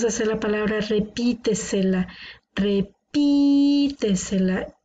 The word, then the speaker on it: repítesela: Repítesela. Tiene la sílaba tónica una antes de la antepenúltima. Por lo tanto, es una palabra sobreesdrújula.